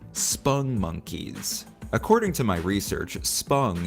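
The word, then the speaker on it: Spongmonkeys: important to note that spong monkeys are not pronounced sponge monkeys, as they are often mistakenly called by folks, myself included, until I made this video. They are called spung monkeys.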